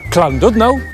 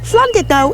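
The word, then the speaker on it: Llandudno: pronounce this place name the most common mispronunciations are clno or LNO to make the sh sound see the last chapter and it might be spelled dud no but believe us flid no is no dud it's definitely a did for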